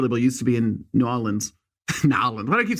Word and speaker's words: New Orleans: trip to New Orleans to New Orleans let me say it like that to nollans and she just happened